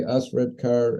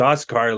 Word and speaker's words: Osredkar: So when they see the D and the K after it, they don't know what to do with it. So it's like, they're fishing, and I just say Osredkar, and then they pronounce it, and I said, okay, you're good to go.